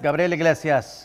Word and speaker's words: Gabriel Iglesias: everybody my name is gabriel iglesias that's gabriela if you can say it right and you're about